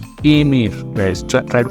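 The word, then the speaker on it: aimer: To like, which we say emir. Emir, guys. Try to pronounce it with me.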